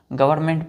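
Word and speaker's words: government: सल्स clear ल अब गवर्नमेंट को हम क्या पढ़ते हैं बच्चों एन यहां पर साइलेंट हो जाता है जिस प्रकार य ई हम नहीं पढ़ते हैं हम ब्यूरो डायरेक्ट ब्यूरोक्रेसी पढ़ते हैं उसी तरह गवर्नमेंट पढ़ेंगे ठीक है एंड य साइलेंट है डोमिनेटेड बाय ऑफिशियल क्या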